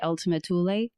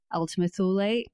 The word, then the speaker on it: Ultima Thule: Yes, you can say Ultima Thule, Ultima Thule, Ultima Thule. So many different ways to pronounce it.